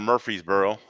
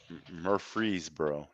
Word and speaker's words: Murfreesboro: weekend going down to murfreesboro murphrees bro yeah remember we got it's you gotta put all the syllables in okay well yeah so